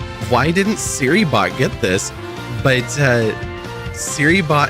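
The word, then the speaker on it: Serybot: It's pronounced like Siri.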